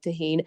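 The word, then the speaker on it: Tajín: And I was like, "First of all, you have to say it right." And I made them say it right. And then I gave them a little bottle of Tahine and their reaction was priceless.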